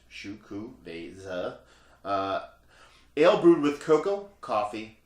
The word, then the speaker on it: Xocoveza: It is Xocoveza Mocha Stout, pronounced Xocoveza.